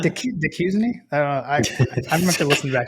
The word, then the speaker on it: Duquesne: I'm fairly confident it's pronounced Duquesne. Duquesne? Yeah. I don't have Scott Howard saying it, but I believe that's correct.